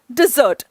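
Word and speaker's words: dessert: हम हम कहते हैं डिजर्ट स्पेलिंग और प्रोनंसिएशन दोनों पर ध्यान दें डिजर्ट डिजर्ट ठीक है यहां पे डबल एस है जो खाना खाने के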